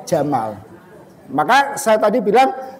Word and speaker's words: Jamal: Mesir Gamal Abdul Nasir aslinya niku Jamal Abdul Nasir tapi orang Mesir E makhrajnya itu menjadi Gamal abdun Nasir itu padahal harusnya bacanya Jamal maka saya tadi bilang